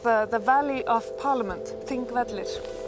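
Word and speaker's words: Þingvellir: Pronounced? Thingvellir. Of course. Yes, exactly. And thing means parliament so it's like the the valley of parliament, Thingvellir.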